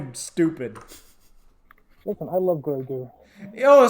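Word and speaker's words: Grogu: stupid listen I love grer oh so that's how it's pronounced I thought it was like grogar I just I just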